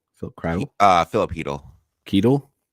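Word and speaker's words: Chytil: uh Philip is it cdle Philip CLE uh Philip heel kle heel kle he he like like you're saying he like h e like he he so the C is silent okay that's weird um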